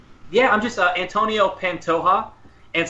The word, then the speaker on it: Pantoja: uh Antonio pantoja and so soft J like jalapeno so it's a hey Antonio panto and then it's like je that's hot right and so ha everybody always is curious how to pronounce my name and that's probably the only Spanish that I know is that soft J right there so uh um so